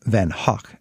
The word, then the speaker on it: Van Gogh: to the impressionist style Vincent van Gogh or then Huck as the Dutchman himself would have pronounced it like